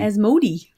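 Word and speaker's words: Asmodee: to that company what a s mo de as Moe Dee and splatter games oh what a cute logo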